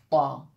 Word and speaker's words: ط: الطا، یہ حرف ہے طا، اور اس کے بعد جو حرف آتا ہے ظا، دونوں بالکل سملر ہیں، غور سے سنیے، طا اس طرح تلفظ اس کا ہوتا ہے طا، اور جب اس کے